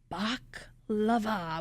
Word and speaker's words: baklava: 2 cannolis and baklava, which neither of us have ever had.